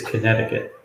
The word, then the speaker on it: Connecticut: safe trip Tim yeah the second C by the way Tim is is silent so it's Connecticut hey William hey Tim